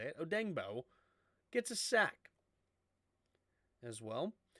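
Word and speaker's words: Odeyingbo: Kenneth Murray and Tranquil both have a sack right now for the Chargers, and Buckner and Odengbo, that's how you say it, Odengbo gets a sack as well.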